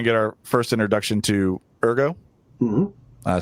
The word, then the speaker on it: Ergo: This is where we're going to get our first introduction to Ergo.